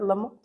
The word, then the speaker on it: Lamott: Hopefully I'm saying it correctly. Is it Lamott?